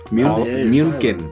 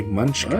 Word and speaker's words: München: München. It's Paulaner. Paulaner München. Munchen. One might say Munchkin. Because those 2 dots on the U is Mew.